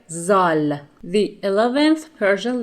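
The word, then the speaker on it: ذال: start the lesson letter zal the 11th Persian letter is named zal and it is pronounced Z just like the beginning sound in the English word Zoo the form of this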